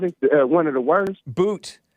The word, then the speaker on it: Bout: Boot. Victor Boot, yeah, Bout is how it's spelled.